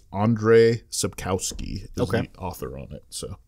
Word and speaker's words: Andrzej Sapkowski: I don't you know totally kill it it's Andrzej Sapkowski okay author on it so very good it's